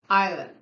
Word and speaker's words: island: kiss dismiss assist Paris passive my favorite island island the origin of the silent s in Ireland